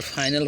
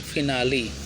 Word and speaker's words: finale: और फाइनल होता है ना, फाइनल, उसका शुद्ध उच्चारण क्या होता है? फिनाली, FINALE, फिनाली का मतलब क्या होता है?